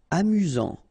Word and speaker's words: amusant: Amusant. Final T not pronounced. You've got only one S here between the vowels, so it's really this Z sound.